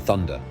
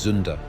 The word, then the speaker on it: thunder: Flash and thunder. These words contain sounds that German speakers struggle to pronounce correctly. Flash with a German accent becomes Vlash. Thunder becomes zunda.